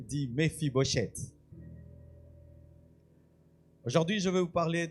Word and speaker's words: Mephibosheth: La première fois que j'ai entendu ce nom, c'était compliqué à prononcer. Dis Mfibochette.